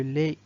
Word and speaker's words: lait: Le lait avec T à la fin mais ne se prononce pas.